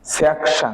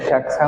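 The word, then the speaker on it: 책상: হবে দেখেন উনি স্বর ঠিক আছে ইয়ং এর উচ্চারণ কার মতে হবে 19 স্বরের মাধ্যমে তাইলে আমরা কি লিখলাম সাং স্যাকশাং স্যাকশাং মানে কি টেবিল ঠিক আছে স্যাকশাং অর্থ টেবিল তাইলে আমরা আশা করি বুঝতে পেরেছি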